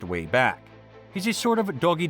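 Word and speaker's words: WABAC: time in Mr peab Buddy's way back machine that's pronounced way back he's a sort of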